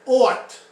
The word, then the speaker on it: ought: And ought is pronounced like A-W-T.